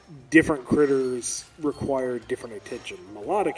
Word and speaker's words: Milotic: Melodic here, that is how it's pronounced, I will fight you otherwise.